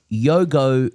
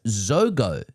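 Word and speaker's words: Jogo: Yogo Benito is pronounced Zogo. That's Z-H-O-G-O. The J in Yogo sounds more like the S in treasure than it does the Y in the forbidden custard of my school days.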